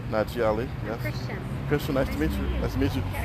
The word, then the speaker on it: Najee Ali: How do you say it? N-A-J-E-E. Najee Ali. Najee Ali.